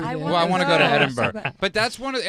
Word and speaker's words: Edinburgh: in edinburgh edinburgh edinburgh edinburgh edinburgh there's no g at the end it's pronounced okay i've heard they have